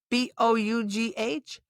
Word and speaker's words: bough: B-O-U-G-H, bough.